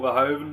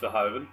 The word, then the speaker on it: Verhoeven: This is the Paul Verhoeven movie. I believe it's pronounced Verhoeven.